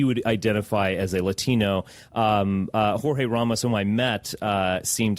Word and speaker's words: Jorge: I actually met Jorge Please pronounce his name correctly. I met, it's funny, I guess it's George Ramos, but Jorge Ramos.